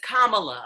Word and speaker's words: Kamala: It is Kamala. That's what. Yeah, Kamala. My bad. I've been saying Kamala. Can I call her Kamala? Okay. It's Kamala. Yeah, that is how it is pronounced.